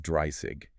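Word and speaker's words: dreißig: This is a double S sound. So while 20 is swanzig with a Z, 30 is dry sig. It has a sharper hissier sound in the middle. It is the only one that doesn't use the Z.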